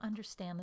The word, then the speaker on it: understand: Here are some three-syllable words: industry, impressive, understand. In the first word, I stress the first syllable, the second word, the second syllable, and the third word, the third syllable.